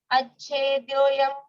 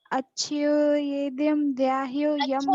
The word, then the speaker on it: अच्छेद्योऽयम्: क्लेदयन्त्यापो न शोषयति मारुतः अच्छेद्योऽयं तुलसी। राधे श्याम माँ। राधे राधे बेटा। गाओ। अच्छोदयं द्याहो यम क्लोदेशोष्य एव च नित्य सर्वगता नहीं स्थाणुर्। बच्चा उच्चारण ठीक नहीं है। अच्छेद्योऽयं। अच्छोदयं द्याहो यम नहीं अच्छे।